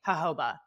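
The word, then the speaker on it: jojoba: stylist um turned me on to hoba oil it's spelled j o ho ho j a no J OJ o b a hoba hoba yeah J OJ o ba a oil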